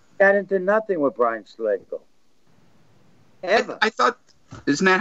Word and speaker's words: Slagel: Going back when Brian Slagel, was it Slagel, is how you pronounce Slagel. It? Slagel, yeah.